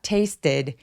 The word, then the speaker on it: tasted: 여러분, 여기 taste처럼 t 소리로 끝난 동사, t나 d로 끝나는 동사는가 붙으면 중간에 모음을 하나 넣었습니다. 그래서 tasted 이러면 이상하니까 tasted. Tasted라고이 소리를 넣어서 소리가 두 개예요.